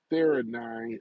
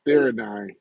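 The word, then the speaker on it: theanine: He's he been Joe Rogan been taking the theine I think it's pronounced th h e a r n i ne uh theine and um it works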